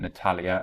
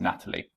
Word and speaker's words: Natalia: I look at 2d I'm pretty pretty sure I was pronouncing Natalia as Natalie anyway I digress Battaglia's